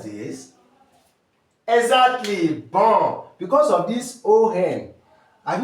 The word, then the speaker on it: bon: So, because of this O-hen, you have what? You have bon. Bon. So, if you want to transcribe this, you have B and on.